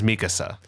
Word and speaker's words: Mikasa: I've heard people say Mikasa Mikasa from what I'm aware of the pronunciation of her name is Mikasa yeah which would imply an emphasis on me but like I don't